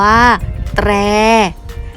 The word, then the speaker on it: แตร: พยัญชนะ ต้น สอง ตัว ต่อ เต่า หรอ เรือ ประสม กับ สระ แอ อ่าน ว่า แตร อ่าน สะกด คำ ว่า ตร.